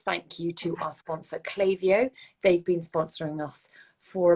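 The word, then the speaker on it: Klaviyo: further a big thank you to our sponsor clavio they've been sponsoring us for about 18 months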